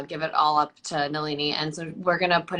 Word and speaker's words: Nalini: and we can i'm gonna um no uh nalan sorry i keep saying your name wrong say it again malini nalini um um so i'm gonna nalini has taken